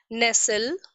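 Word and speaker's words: nestle: ठीक है, वैसे ही hustle, HUSTLE, TL एक साथ यूज हुए हैं, in this case T is silent. हसल, हसल means धक्का मुक्की करना। ओके, नेसल।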